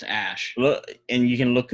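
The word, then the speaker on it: Æ: The AE is pronounced Ash.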